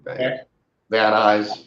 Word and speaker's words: Van Nuys: Is that how you pronounce that? Van Nuys or no? Van Nuys.